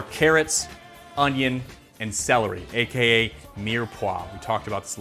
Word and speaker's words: mirepoix: adding in our carrots onion and celery aka near poa we talked about this a little bit earlier